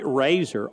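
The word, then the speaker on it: Rasar: strikes she's behind TJ Razer r a s a r pronounced like the utensil you used to shave your whiskers in the morning that's ball low and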